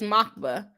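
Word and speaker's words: Москва: okay I'm in Russia it is makva from Moscow what no way hello song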